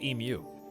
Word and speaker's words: emu: It's pronounced emu.